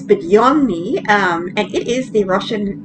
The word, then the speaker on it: Budyonny: So it almost sounds like Budyonny, but it's Budyonny, and it is the Russian cruiser at Tier 6.